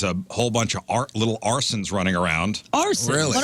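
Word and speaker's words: Arcen: I know an Arson, but it's not spelled like that. A-R-S-O-N? It's, Not no, our- it's This is A-R-C-E-N.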